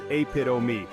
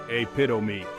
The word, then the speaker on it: epitome: the correct pronunciation is apom me let's break it down aito me notice how the stress is on the second syllable pit say it slowly with me a Pitto me amazing you're a natural